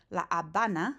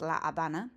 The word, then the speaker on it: La Habana: La Habana, silent H, right? In English, you pronounce it Havana, but in Spanish, it's La Habana.